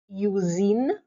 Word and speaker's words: usine: noticed that over here I pronounced the S as Z why because the S has a vowel in front of it U and a vowel after it I therefore you pronounce